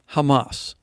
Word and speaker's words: Hamas: But in the Hebrew, the H is pronounced more with the hard CH sound. However, in the Sephardic pronunciation, it's pronounced with an H sound, Hamas.